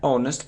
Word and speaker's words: honest: mistakes he isn't an honest person he's honest so we didn't pronounce this sound not honest not honest